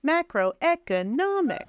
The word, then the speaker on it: macroeconomics: and one secondary stress so macro macro and then e economics so me and N those are two primary stresses and then e is halfway macroeconomics macroeconomics perfect perfect macroeconomic